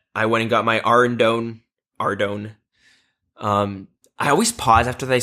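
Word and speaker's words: Ardougne: went and got my Ardone. I always pause after they say that because for like 10 years, do you want to know how I pronounced Ardone? How? Ardragon.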